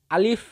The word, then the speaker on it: আলিফ: মুখের খালি জায়গা হইতে উচ্চারিত হয় এই আলিফ। আলিফ।